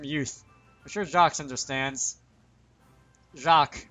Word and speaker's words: Jacques: Jacques, I think the S is silent. But then again, I'm usually wrong on these things.